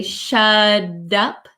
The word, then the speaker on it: shut up: so I would say shut up shut up shut up um sounds like a soft D sound shut up so when the t comes between two vowel sounds it can change the pronunciation so shut up shut